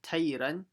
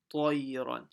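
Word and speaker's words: طيرا: And here it's not tayran, it's a ta, tayran.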